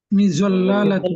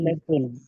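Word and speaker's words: مِظَلَّةٌ: সুন্দুকুন, সুন্দুকুন একটি ছাতা, মিজল্লালাতুন মিজাল্লাতুন, মিজল্লাতুন, শব্দটি হচ্ছে মিজল্লাতুন। সবাই বলি মিজল্লাতুন, মিজল্লাতুন, জি, লামের দুইবার উচ্চারণ হইবে না উস্তাদ, মিজল্লালাতুন না মিজল্লাতুন। মিজল্লাতুন, জি, দুইবার না, একবার উচ্চারিত করুন।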